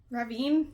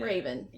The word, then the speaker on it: Ravn: Ravn? Ravine? Yeah. Raven. It's spelled like Raven without the E.